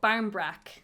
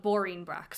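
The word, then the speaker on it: báirín breac: only boring in english it's barmbrack which is a bread is baram or is brac the bread that's what's called barnbrack barnbrack yeah but in irish we call it boring brack so i just always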